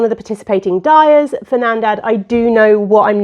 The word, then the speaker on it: Nandad: So I have started Nandad.